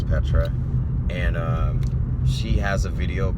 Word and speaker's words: Petra: Her name is Petra, but it's spelled with the P3TR4. But her name is Petra, and she has a video called "The Accuser," and yeah, it's awesome.